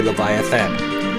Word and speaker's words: Leviathan: attacked by Leviathan, and I know they spell it Leviatan, but it's actually Leviathan, the master of the seas.